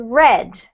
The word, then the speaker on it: read: Flyers Flyers yep and then this one is pronounced red red because it's a p yeah exactly yeah